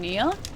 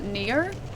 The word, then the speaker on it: NieR: I have to pronounce this properly or else everyone's gonna think I'm saying Nia and not Nier.